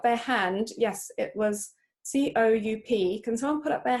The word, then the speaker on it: coup: Okay, so it's coup. The P is silent.